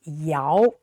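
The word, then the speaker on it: 姚: NBA who's very tall so this ya not y okay so uh a lot of westeners pronounce this y no not it's ya second tone ya so this is the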